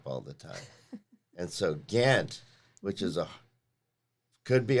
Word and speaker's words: Gant: your last name name since it's Gant g a n t that is a nice name know how to spell it you know how to spell it no in case you needed to know how to spell it I do want to know how to spell it now people often think it's Grand isn't it's interesting how